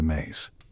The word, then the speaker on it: me: This is where they stored the Emi, the Mays, pronounced May.